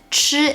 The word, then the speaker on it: 吃: Also remember, because 吃 is aspirated and 知 is not. So when you pronounce 吃, the airflow should be stronger.